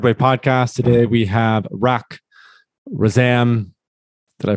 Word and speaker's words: Rak Razam: to the Third Way podcast today we have Rock razam did I pronounce that I can restart again rack is that rack for Zam is that correct you got it there's only